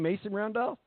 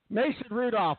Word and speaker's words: Mason Rudolph: Mason, and his name Mason Randolph? Did I say the name wrong? I'm sorry. Mason Rudolph.